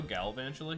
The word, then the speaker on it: Galvantula: where if they evolve into Galvantula here, let's pronounce it correctly, if they go Galvantula here, and regardless of what they attack me